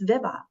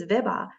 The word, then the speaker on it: Vibha: again I'll be like it's Viva it's Viva I have actually written